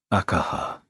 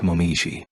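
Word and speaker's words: 紅葉: This girl's name was read as Akaha, not Momiji.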